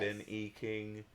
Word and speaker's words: Ben E. King: me chills, and that's Stand By Me by Ben E. King, or is that how you say it? Yes. Ben E. King?